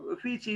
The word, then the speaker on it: Uffizi: So the Uffizi Gallery, an Italian Galleria degli Uffizi, pronounced, Uffizi, is a preeminent art museum located adjacent to